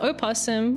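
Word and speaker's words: opossum: The O possum. I mean, the possum with an O that's silent. The O is not silent. Oh, maybe some in some states the O is silent.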